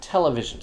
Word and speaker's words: television: exception that i found television because the greek stress on tele i guess outweighs the latin stress at least in this one case television so certain usually technical